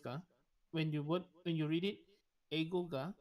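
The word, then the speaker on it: 英語: ga wakarimasu ka, or Eigo ga wakarimasu ka. When you read it, Eigo ga, you can try break it there and continue the word with the word wakarimasu ka.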